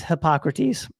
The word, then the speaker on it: Hippocrates: And Ryan, our fact checker, did confirm that it is Hippocrates. Thank you, Ryan. Thank God for Ryan. Ben's not known for his pronunciations anyway.